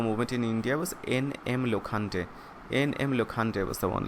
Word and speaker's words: Lokhande: So the pronunciation will be Lokhande actually, Lokhande.